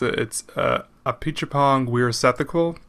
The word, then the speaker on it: Apichatpong Weerasethakul: I'll start with the older one, which was Tropical Malady by I will try my damnedest to pronounce his name right. I think it's Apichatpong Weerasethakul.